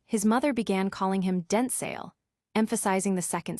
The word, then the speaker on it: Denzel: The actor clarified that the actual pronunciation is a more concise, Denzel, with a short L sound akin to the word able, rather than the softer, more drawn-out ale sound often heard, similar to gazelle.